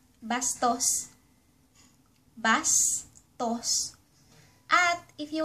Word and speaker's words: bastos: Rude ----- Bastos.